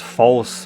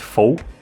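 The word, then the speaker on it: Faus: 17 18 years old his name is pronounced false by me but I guess some people can pronounce it fo from the the French name right but as his full name is Fus I I chose to call him false f a u s false so this is the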